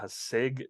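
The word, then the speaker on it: Haasig: a weird name Daniels h-a-a-z-i-g hasig Daniels I believe that's how you pronounce it he's their quarterback he's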